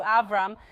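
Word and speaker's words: אברהם: And by the way, the name Abraham, or as we pronounce it in Hebrew, Avram, means father of many nations.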